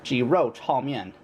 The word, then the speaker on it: 鸡肉炒面: And in Mandarin, it's actually pronounced 鸡肉炒面.